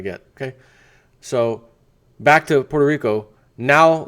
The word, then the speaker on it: Puerto Rico: San Juan P or let me say it right Puerto Rico got to put an L in there the r becomes an L Puerto Puerto Rico or